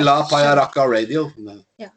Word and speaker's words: Pajarraca: But can you record us a message for La Pajarraca? It's a little hard to pronounce, I know. Pajarraca.